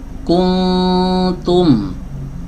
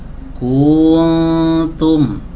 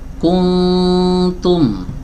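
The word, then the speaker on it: كنتم: Contoh lain misalnya seharusnya dibaca begini. Kuntum ya, malah dibaca kuntum. Kun-nya dipanjangkan dulu dua harakat. Kuntum. Nah, ini salah. Yang benar kuntum ya. Jadi dibacanya satu harakat.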